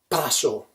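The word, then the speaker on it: πράσο: So if you want to learn a little bit of Greek, a leek is an onion the onion family, and you pronounce it paso.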